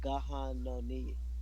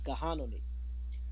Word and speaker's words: Gahanoni: He was the son of a Seneca woman, and her name is pronounced Gahanoni, Gahanoni, she who goes to the river, and a Dutch trader, Johannes John Abel II.